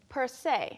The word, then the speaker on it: per se: 그 다음으로 그 자체가 그 자체로는 Per se.